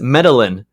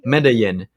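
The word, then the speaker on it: Medellín: Isn't the double L pronounced as a Y?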